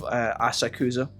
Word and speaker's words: Asakusa: to the pronunciation of asakusa the japanese people almost never vocalize that oh sound in here so it just sounds like asaku asakusa so ass ass sack